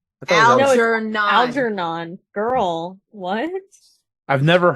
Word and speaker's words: Algernon: Again, phonetically. Algernon. N-O-N. Yeah, that one's a very phonetic. Whatever. Anyway. It's pronounced the way it's written.